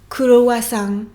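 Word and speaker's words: クロワッサン: En japonais, kurowasan, kurowasan. Kurowasan, ce n'est pas comme dans le manga Yakitate Japan, Monsieur Kurowa, kurowasan, mais bien croissant.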